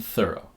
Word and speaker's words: thorough: between the teeth the in thorough the th is voiceless which means that the tongue is still between the teeth but the noise that it makes is much softer we have V in though and th in thorough but the ends of these two words sound the same though o thorough o the GH doesn't make any noise next we have th